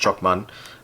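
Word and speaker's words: Chocman: going to pick out chalkman i'm sure that's pronounced choc man so chokman by costa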